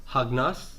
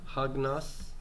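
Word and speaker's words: ἁγνός: Hagnos. Hagnos. Mm-hmm. Yeah. And by the way, akenos is the subject, and my copular verb is estin. Hagnos is my predicate adjective.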